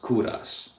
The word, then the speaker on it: Kovras: So I did the same exact thing, put the V where the U is, so now it's spelled like KOVRAS, but it's still pronounced Kouras.